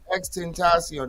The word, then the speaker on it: XXXTentacion: yeah yeah that dude xxxtentacion that's how you pronounce his name xtentacion that sounds like that's